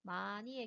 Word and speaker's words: 많이: 많이의 경우에는 받침에 니은과 히읗이 사용이 되었는데 뒤에 오는 이가 모음으로 시작되고 접사인 형식 형태소이므로 히읗이 탈락되어서 많이로 발음을 합니다.